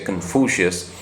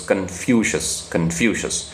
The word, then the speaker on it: Confucius: I mean, normally we say Confucius, but I checked the pronunciation, so it's Confucius.